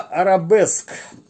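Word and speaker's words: Arabesque: Но считается это слово именно как арабеск в единственном числе. На диске, значит, перевод, соответственно, в русскоязычном чтении этого слова арабеска. То есть я сначала думал, что это как-то непривычно и неправильно, но вот почитал немножко информацию в интернете, оказывается, все-таки это арабеска, а в англоязычном произношении арабеск.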